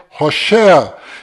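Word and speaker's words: הושע: Este nome que você está vendo é o nome de Oséias, que do qual Moisés mudou para Josué, mas a pronúncia correta de Oséias é Rochéa.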